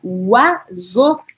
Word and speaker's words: oiseau: palavra, a gente pronuncia oiseau. Vou escrever aqui para vocês. Eu escreveria assim em português. Oiseau. Oiseau. Oiseau, que significa pássaro. Oiseau. Eu escrevo com O-I-S-E-A-U-X. Tem 7 letras, mas eu pronuncio 2 sílabas.